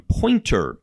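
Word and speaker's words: Poynter: On Pointer, Poyntr is how that's spelled, disinformers are targeting Taiwan as a country where coronavirus is out of control.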